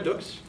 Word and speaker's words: Dukes: that's pronounced um okay my name is Dukes it rhymes with books most people when they